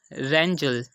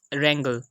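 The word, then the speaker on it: wrangle: Third example है रेंजल या रेंगल। Yes, this is रेंगल। तो यहाँ पर भी हम देख सकते हैं कि आर से पहले डब्ल्यू आया, तो इसको हमने प्रोनाउंस नहीं किया।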